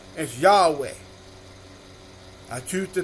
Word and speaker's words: Yahweh: have confidence in pronouncing the creator's name as yahweh i choose to pronounce the creator's name as yahweh that's the creator's name forever and ever when